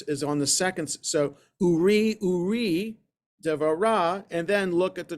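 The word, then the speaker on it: עורי דבורה: So I pronounced it the way, I put the emphasis without paying attention to the trup marks on the first syllable. The trup mark on purpose is on the second syllable, and that's what the little asterisk is referring to, that it's supposed to be the second syllable, not the first.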